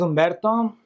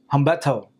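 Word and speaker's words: Humberto: My name is Ombberto. And when I was a little kid growing up in school, my teachers couldn't pronounce my name. They would call me Hetto because they couldn't pronounce my name. They would say the H really hyphened or and then they couldn't roll the R.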